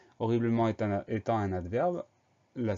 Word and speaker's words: horriblement: Le H muet, les deux R. Ensuite, la suite, ça va à peu près. Bleu, B-L-E. Dernière syllabe, ment, M-E-N-T. Donc, le son en s'écrit E-N et il y a un T final muet.